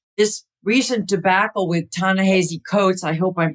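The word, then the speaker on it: Ta-Nehisi Coates: not being discussed right this recent debacle with Tanana ha coats I hope I'm pronouncing his name right tassi the hii is still sounds like the H SII tanassi coats yeah I'll call them coats because I'm terrible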